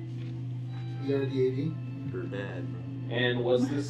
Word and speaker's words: Erdad: The mayor's name is Erdad. E-R-D-A-D.